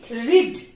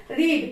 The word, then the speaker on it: read: আমাদের সাথে বলেন পড়া ইংরেজি হচ্ছে রিড, পড়ছি ইংরেজি কি? Reading. রিডিং। পড়ছি ইংরেজি কি? Reading. রিডিং। পড়েছি Read. রিড। উচ্চারণটা রেড হবে, বানানটা কিন্তু একই।